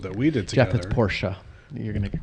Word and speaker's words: Porsche: and everyone's probably going so to set the record straight is it is Porsche Porsche yeah okay so in